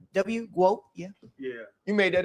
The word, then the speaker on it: GWOAT: Does it Is it Goat? Is that Is that how it's said? Yes, like goat, but w goat, yeah.